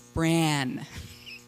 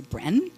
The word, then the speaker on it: Bran: me for my name I say my name is bran and they say Brin and they say bran and they say Bren they say bran and they say Brianna say bran and it drives me